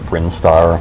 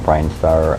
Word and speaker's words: Brinstar: is known as uh I've always called it brinstar there are those who will call it brinar um uh I admit um that some of the pronunciations of uh of of names and enemies and whatnot are open to interpretation as far as I'm concerned I've always said brinstar um so that's where